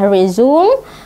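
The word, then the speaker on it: resume: melampirkan resmi pilihan acara lafalnya ada dua ketika dia berfungsi sebagai kata kerja Bacanya adalah rezum ketika dia adalah kata benda maka dia dibaca brazzane ya Kenapa dia melampirkan rhizome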